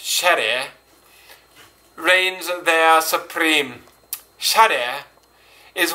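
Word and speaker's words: 洒落: Shade, pronounced shere, reigns there supreme.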